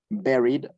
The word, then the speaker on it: buried: Buried on purpose. Este verbo que está aquí se pronuncia así, very, como si dijera very much, pero con la B grandota, very. Y con la D, buried, significa enterrado a propósito.